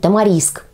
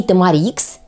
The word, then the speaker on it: тамарикс: говорю правильным ещё будет тамариск то есть правильно говорить и тамарикс и тамариск с ударением на последний слог А вы знаете немногим